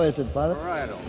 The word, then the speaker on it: parietal: excuse me to ask once again how you pronounce this word to Father Hesper. How is it, Father? Parietal. Parietal.